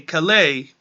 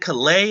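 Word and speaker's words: Calais: a Cal Cal a Cali Cali it's a the S is silent I remember watching it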